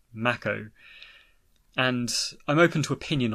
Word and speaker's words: Mako: in the remake is the pronunciation of Mako which as it turns out is pronounced Macko and I'm open to